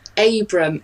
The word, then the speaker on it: Abram: I'm Abram. It's got 5 letters in it, and I think it originates from Lancashire. So if you say Abram...